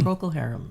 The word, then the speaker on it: Procol Harum: Am I pronouncing that correctly? Procol Harum, yeah.